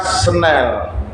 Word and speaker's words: snail: Itu tulisannya kita kita tulis senail lalu kita baca senel.